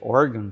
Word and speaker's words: Oregon: nos Estados Unidos tá pronúncia correta é organ tá mas aqui que a gente fala Oregon né e o barks ele